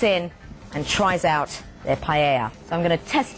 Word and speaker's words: paella: And I've ordered two representatives of Spanish cooking, the paella or the paella as it's pronounced and some lovely meatballs.